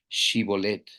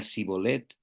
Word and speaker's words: shibolet: no no lo soy ellos le pedían que pronunciara la palabra shibolet si era de Efraín diría c bolet porque a la gente de Efraín le cuesta pronunciar bien esa palabra entonces se lo llevaban